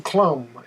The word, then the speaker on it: Clum: further north than the Aleutian Islands 1898 John Klum and his that's spelled c-l-u-m you hear that name many times